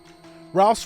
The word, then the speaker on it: Rouse: Rouse rhymes with mouse.